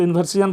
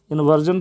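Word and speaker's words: inversion: बता रहा हूं कि कुछ लोग जो है ना इसको इवर्सन पढ़ते हैं इवर्सन नहीं पढ़ना इसको इंवर्जन पढ़ना है या इवर्स पढ़ना है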